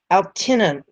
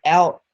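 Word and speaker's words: Altıntaş: Mevlet Mert Altina, I'll try to pronounce that right, Altintas, okay, Mevlet Mert Altintas, the man who murdered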